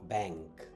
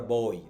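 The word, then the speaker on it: boy: তারপর হচ্ছে কি বি ও ওয়াই, এটার উচ্চারণটা হচ্ছে বই, বই, ইউ আর আ বই, আমরা বলি বয়, বয় না বই, বই।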